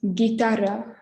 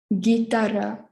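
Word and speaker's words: guitarra: and our third one is followed by a u so it's the same as the english g ga so it's gitara gitara and then in english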